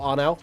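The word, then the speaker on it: Arnout: So yeah, Sim Racing Arno, A-R-N-O-U-T, I think it is, or Arnau, that's how you pronounce it in Dutch.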